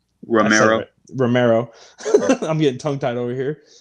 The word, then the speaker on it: Romero: Romero.